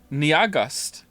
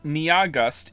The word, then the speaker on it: Nyahgust: to spell it, NYAHGUST, has informed me that their name is only 2 syllables long. And I don't understand how that's possible. Nia is clearly 2 syllables on its own. And then after that, you have gust. Niagust. It's pronounced like August.